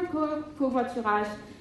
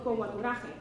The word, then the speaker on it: covoiturage: So if you were to try to pronounce that in Spanish, you would get a little covoiturage. And if you try to say it in English, it goes something along the lines of covoiturage.